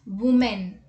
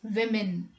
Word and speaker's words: women: word quite incorrectly because this word has m-e-n in it and m-e-n is pronounced as men right so people pronounce it as women but that is not